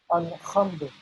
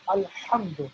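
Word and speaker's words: الحمد: Alhamdu, that is incorrect. That is not the correct pronunciation of this. So it's Alhamdu with a Ha, Ha, Ha.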